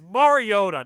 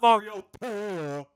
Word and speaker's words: Mariota: It's Mariota, not Mariota.